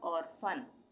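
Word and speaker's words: orphan: उसी तरह से ऑर्फन, ऑर्फन में भी पी एच एक साथ आ रहा है तो यहाँ पे फ का उच्चारण होगा, ऑर्फन।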